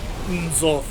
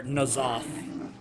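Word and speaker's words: N'Zoth: king, he's referring to Nzoth. Or Nazoth. Either one. Either way. If you want to pronounce it either way, that's fine. I've heard it pronounced both ways.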